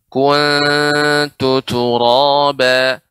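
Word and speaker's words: كنت ترابا: Perhatikan pada pengucapan kuntu turaba. Monyongnya sedikit, kemudian ditarik lagi ke belakang. Kemudian kembali ke semula, ya, ke tempat semula. Ya, kuntu, bukan kuntu, bukan. Tapi monyong, kemudian kembali lagi datar.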